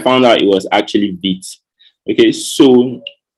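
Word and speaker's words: Vite: optimal so beat is french word for fast or rapid or quick okay so it's pronounced beats so the first time i heard the word vibe was on my mind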